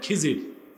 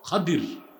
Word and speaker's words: খাদির: আপনারা ভুল বলেন খিজির উচ্চারণটা হচ্ছে বিফাতল খাদির আমরা বলি খিজির উচ্চারণগুলো ঠিক করবো আমরা